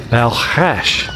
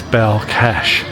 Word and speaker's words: Balkhash: Elena where we were going to, she said Balkhash. Now apparently in Russian, it's always been known as Balkhash, but the Kazakhs definitely spell it as Balkash.